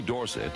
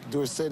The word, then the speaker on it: Dorsett: Anyway, Dorsett is supposed to be a French name. And S E T T spells set and not sit.